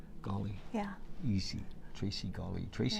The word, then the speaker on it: Gawley: Gawley. Gawley.